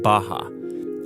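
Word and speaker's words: Barra: the West is the place called Baja ours are pronounced like H in Portuguese this is a new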